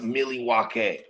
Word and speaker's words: Milwaukee: First of all, according to the indigenous folks from that area, it's pronounced Milwaukee.